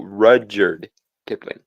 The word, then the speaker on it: Rudyard Kipling: No, it's not Richard. It's not Richard. No, Rudyard Kipling.